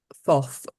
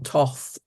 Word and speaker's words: Thoth: and that is uh someone called thof or Toth or I even um heard it pronounced Tot so you you know take your take your pronunciation I'm going to use